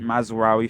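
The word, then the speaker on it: Mazraoui: game u I say I always say his name wrong I know I know Aiden heaven no mazar mazawi mazawi thank you very much thank you but mazawi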